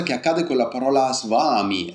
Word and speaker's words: svami: I ed è sbagliato non si scrive s in sanscrito non c'è la W c'è la v e la v e la a insieme fanno un suono che è vicino a vaa vaa quello che un inglese